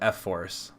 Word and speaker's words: F Force: um the F sorry it's called f Force is is what how it's pronounced I keep mispronouncing it f force it sounds like e for I want to say e Force kind of but it's F Force F I guess it